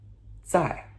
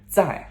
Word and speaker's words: 在: So next we have 在. Okay? Z-A-I, and that is the fourth tone, descending tone, that sharp no tone. 在. Okay? 在.